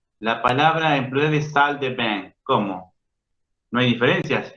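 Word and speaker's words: salles de bain: Solamente se ve esa S, no se pronuncia.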